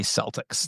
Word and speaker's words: Celtic: yes it is not it is not supposed to be Celtics no one except for that team that is never pronounced anounced that way it is a hard sea across the board wow yeah it is